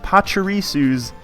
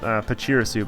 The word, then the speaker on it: Pachirisu: She likes her Pachirisu's pickup. I used to call it, it's another one of those, oh, how do you pronounce this kind of deals? Always called it Pachirisu, but it's pronounced Pachirisu.